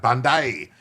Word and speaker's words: Bondi: Thank you for eventually pronouncing Bondi correctly. Yeah, Blackroyd, my Australian friend. Thank you. I got it. Bondi.